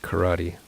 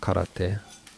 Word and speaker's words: karate: thought you said taekwondo yeah i i studied karate which is actually pronounced karate but we're english speakers whatever um so i'm